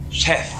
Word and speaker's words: Sheth: Very difficult for Koreans to say his name. Yeah. They don't have the TH sounds. Yeah. Or the SH sounds. Exactly. They do have to say like Sheth, kind of like that.